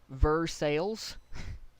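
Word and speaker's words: Versailles: here um that uh is pronounced ver sales versales is is spelled versa um just that should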